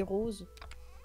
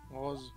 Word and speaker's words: rose: Comment tu dis rose? Rose. Rose. Ouais, tu prononces le O ouais. De façon ouverte.